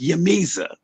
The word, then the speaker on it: J'mezah: later, but it's pronounced Yamiza.